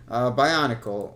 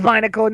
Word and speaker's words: Binacle: Bionicle, or however you pronounce this Pokemon's name. Binacle? Binacle. I think It's Binacle, not Bionicle.